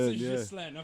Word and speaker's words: Ghislaine: Ghislaine, but I Ghislaine, pronounce it yeah. Ghislaine.